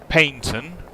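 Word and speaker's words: Paignton: So yeah, for um Tai's dad, um I went from Paintton, which is spelled uh with a G, um which is in Devon, via Torqui over to Newton Abbott.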